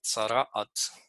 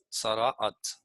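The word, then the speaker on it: צרעת: que han traducido como lepra en hebreo es sarat sarat así se pronuncia y la voy a escribir en hebreo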